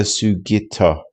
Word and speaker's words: Sugitta: Uh he said Sugi Sugetta. I was saying it wrong. He said the Sugitta building was on Tenichi Street.